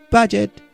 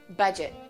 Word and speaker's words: budget: budget you know what budget budget yes the d is silent and make sure that